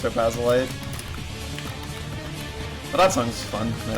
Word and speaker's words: Topazolite: I'm not too big on a lot of Topazolite music, which I only recently learned it's pronounced Topazolite.